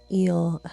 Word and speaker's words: EEL: me in on the EEL Health and Wellness app. That's E at symbol L pronounced eel like ocean, like in the ocean.